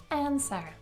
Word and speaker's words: answer: The main mistake here is when you pronounce W, because indeed we do not pronounce it here, and at the end you should have schwa sound, that is this symbol.